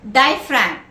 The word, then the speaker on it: diaphragm: Next word, diaphragm, D-I-A-P-H-R-A-G-M, where the G is silent.